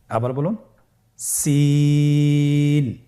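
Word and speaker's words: سين: Scene হরফটি বারিক হরফ পাতলা করে উচ্চারণ করতে হবে। তাহলে আমার সাথে বলুন সিন আবার বলুন সিন মাশআল্লাহ আপনাদের হচ্ছে আলহামদুলিল্লাহ আপনারা চেষ্টা করুন।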